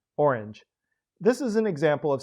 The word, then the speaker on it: Orange: From there, it was just a hop, skip, and a jump to the town's present-day name, Orange, or, as English speakers tend to pronounce it, Orange.